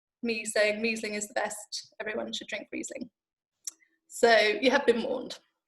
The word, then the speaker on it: Riesling: I think we all probably started calling it Riesling until we were corrected and told it was in fact Riesling.